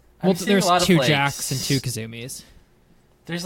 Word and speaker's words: Kasumi: didn't like what Tekken is I think because Kasumi is how you pronounce her name the girls because I think